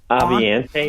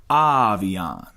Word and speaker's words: Avion: Avion Collins, who, by the way, we are the only ones pronouncing his name correctly. I heard him. Aviante or Aviante? Avion. And they're all doing it wrong. Everyone's saying it wrong.